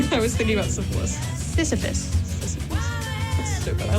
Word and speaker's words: Sisyphus: I called him Syphilis, like the disease. And I said that full confidence. Girl, it's not even, there's no L.